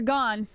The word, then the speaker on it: Gane: him with his eyes it's pronounced gone unfortunately I see someone say gay instead of gone three minutes and 38